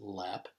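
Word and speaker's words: Loepp: So just to tell you a little bit more about me, again, my last name is spelled L-O-E-P-P, but it's pronounced Lepp.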